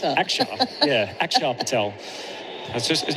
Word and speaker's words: Axar: the Axar Patel. My apologies at that point. I was confused for a minute. I was the AX AR which uh is is pronounced Axar.